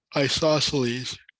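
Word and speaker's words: isosceles: Isoc isosles. Yeah. The the C is silent.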